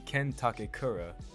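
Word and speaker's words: Ken Takakura: so forgot to mention I've been saying his name wrong on purpose his name is actually Ken takura because Momo has a crush on this male actor named Ken takura and that is the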